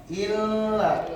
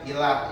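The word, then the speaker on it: إِلَّا: yaadahu asilin to bacau asfalil tiga illa tolong bacanya jangan ila ya illalladina amanu illalladina amanu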